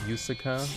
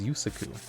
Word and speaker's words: Yusaku: DuelLogs, for DuelLogs, so your pronunciation of Yusaka is your stream punishment? Yusaka? It's Yusaka. What is it? Yusaka? Yusaku? Yusaku? Oh wait, it's Yusaku.